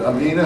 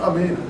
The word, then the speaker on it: Amina: I guess is it Amina how do you pronounce it yeah it's Amina the accents over the a yeah it's a long I always thought I